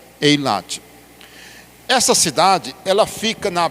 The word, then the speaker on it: Eilat: Hoje ela é pronunciada assim, Eilate.